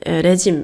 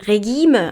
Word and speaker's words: Regime: 레짐 이렇게 해갖고 얘도 이제 프랑스어가 어원이라 발음하는 방식이 좀 다릅니다. 레기메 아니에요.